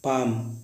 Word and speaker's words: palm: उसके बाद पाम, PALM, पाम में हथेली। अब गाइस बात करते हैं एन कब साइलेंट होता है।